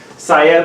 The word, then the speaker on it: Syed: an L Moines coin saiad like psychology educator sigh nothing I'm from I'm